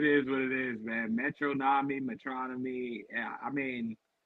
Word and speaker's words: Metronomy: wrong my entire life I've been saying metronomy it's metronomy and I only know that because of fantano so shout out to melon it is what it is man metronomy metronomy I mean it's